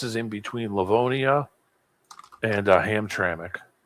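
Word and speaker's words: Hamtramck: That That place is in between Leavonia and Ham Tramik. Yeah. Okay. Ham Tramik. Oh, you know how to pronounce it.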